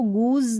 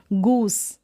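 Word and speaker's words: goose: ई vowel letter है, तो हम इसको गूज नहीं बोलते, हम बोलते हैं गूस, यानी एस को स।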